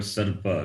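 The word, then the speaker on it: सर्प: Repa plus pa. Again. Like in the word sarpa, now we can say sarpa. Okay. Sa, the letter, the vowel, a is there, sarpa. Sarpa means snake.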